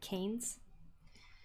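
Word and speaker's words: Cainz: it's kind of like it's spelled c a i n z like canes uh those stores are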